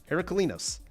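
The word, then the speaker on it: Heraklinos: Gladiator Beast Herculinos. Make sure you get all the syllables in there. Herculinos.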